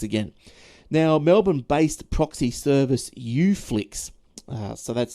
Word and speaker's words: Uflix: Now, Melbourne-based proxy service Uflix, so that's spelt with the letter U, Flix, Flix, which uses smart DNS technology to trick Netflix into thinking you're based in the US.